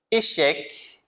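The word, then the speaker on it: échec: O park é geralmente o C no final ele vai ser pronunciado, como na palavra também echeque, né?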